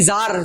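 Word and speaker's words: Tsar: होती थी बादशाह के हाथ में होती थी जार जारे रूस लार हां तो ज़ार से ये टी साइलेंट होता है।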